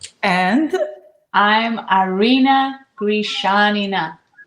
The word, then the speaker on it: Grishanina: And I'm Arena Gishanina.